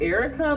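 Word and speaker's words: Aericka: It's a weird spelling, but it sounds like Erica, but it's spelled with the A, like a capital A at the beginning and E-R-I-C-K-A.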